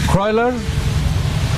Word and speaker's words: Kuroiler: Kuroiler, as we spell it, K-U-R-O-I-L-E-R, Kuroiler.